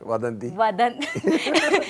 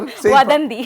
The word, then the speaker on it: Vadhandhi: Vadhandhi. It's Say Vadhandhi. Say it faster. Vadhandhi.